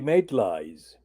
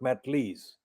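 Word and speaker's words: Maitlis: John Sopel and Emily Maitlies. Notice how I'm pronouncing her second name, Emily Maitlies, not Matlees.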